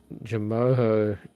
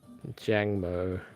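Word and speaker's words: Jangmo-o: How do you spell it? Como. And Jamoho. I know which one you're talking about, but Jamoho, it's Jangmo.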